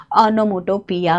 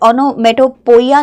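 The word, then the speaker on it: onomatopoeia: क्या हुआ, ये ओनोमोटोपिया हुआ। इसकी प्रोनाउंसिएशन का भी थोड़ा ध्यान रखेंगे, ये ओनोमेटोपोइया नहीं होता, ओनोमेटोपिया होता है, ठीक है।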